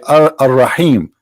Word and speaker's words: Ar-Rahim: They say Ar-Rahim because this is how it's pronounced, but the fact it is Al-Rahim, Al-Rahman, Al-Aziz, Al-Muhaymin, etc.